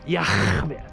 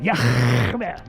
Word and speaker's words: Yahweh: His name is Yahweh. That's how you pronounce it. Yahweh.